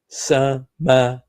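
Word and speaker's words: سماوات: Samawat.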